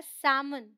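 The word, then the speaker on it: salmon: Alright, ये है बाम, काम, पाम, ये है सैमन। ऑलराइट, एल साइलेंट है।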